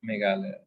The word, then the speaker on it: Meghalaya: The Asia's cleanest village is, how do you pronounce that, Meghalaya? Yeah, Meghalaya.